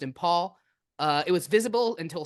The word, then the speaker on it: Imphal: near impal airport uh imp H I think that's pronounced in Paul uh it was visible